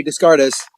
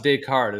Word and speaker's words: Descartes: i hope somebody's just it's pronounced descartes it's not descartes yeah i don't i